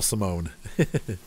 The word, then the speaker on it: Simone: Yeah, she's right here, Simone. It's S I. It's spelled like Simon, but with an E on the end.